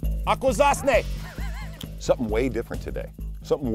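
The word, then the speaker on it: Akwesasne: Akwazasne. Akwazasne.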